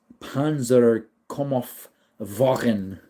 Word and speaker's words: Panzerkampfwagen: It's pronounced Panzerkampfwagen.